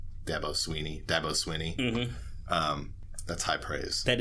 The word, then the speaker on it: Dabo Swinney: his coach who's known to say ridiculous things des Beaux Sweeney debo Sweeney Dabo Swinney mm-hmm that's high praise that is high praise